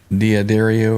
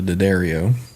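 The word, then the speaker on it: D'Addario: full of Shiite yeah we also have the d'adario or the Daddario I play both those trees both of them yeah you get both versions I use the the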